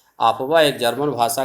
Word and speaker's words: Aufbau: सबसे पहले हम आपवा नियम पढ़ेंगे। यहाँ पे आपवा नियम, तो आपवा क्या है देखेंगे। आपवा आपका स्पेलिंग है इसका AUFBAU, यह जर्मन भाषा का एक शब्द है।